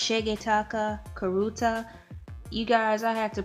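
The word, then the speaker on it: Shigetaka Kurita: I believe it's pronounced Shigetaka Karuta.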